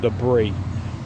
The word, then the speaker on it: debris: know what Deborah says it's called debris but it's spelled Deborah's so I don't believe in silent lettuce kind of like a